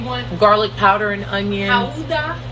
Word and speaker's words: Gouda: Gouda? That's how it's said in Dutch.